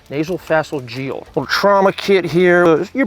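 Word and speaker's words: nasopharyngeal: Correct pronunciation is nasal phalangeal.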